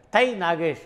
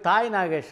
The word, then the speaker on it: தை: அப்படின்றதை ஆங்கிலத்தில் உச்சரிக்கும் போது ஆங்கிலத்தில் எழுதும்போதும் எப்படி எழுதுவாங்க டிச் ஏ ஐ அப்படின்னு எழுதுவாங்க அதை சிலர் தாய் என்று படிக்க ஆரம்பிச்சாங்க அதிலிருந்து தான் தை நாகேஷ் போய் தாய் நாகேஷ் ஆனார் நாகேஷ் இப்படித்தான் அவருடைய பெயரிலே